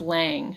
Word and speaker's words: Lam: of the spine and uh it oh it's pronounced lang so the the mantra is lang lang is what you want to be saying